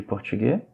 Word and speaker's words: portugais: Ça, c'est du portugais. Observez la prononciation. AI, le son c'est E. Portugais. Et le S ne se prononce pas non plus ici.